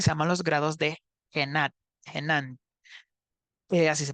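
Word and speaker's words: Genant: la herramienta que se llama los grados de genan eh Así se pronuncia adecuadamente y pues solo se va a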